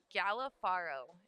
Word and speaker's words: Galafaro: Galafaro is how you pronounce his last name.